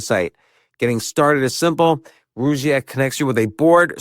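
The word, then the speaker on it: Rugiet: But if you're looking for something beyond the usual pill, meet Rouette Ready. And Rouette is spelled R U G like rug and IE T.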